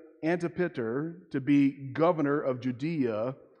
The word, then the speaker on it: Antipater: Julius Caesar appointed Herod's father, his name is pronounced Antipater, to be governor of Judea under Roman rule.